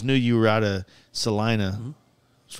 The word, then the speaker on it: Salina: And then, like, I started putting this trip together, and I always knew you were out of Salina.